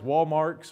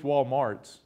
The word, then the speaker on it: Walmart: For a true Ozarker, you know, you don't go to Walmart, it's Walmarks, or at least Walmarts. There's always an S on the end of it.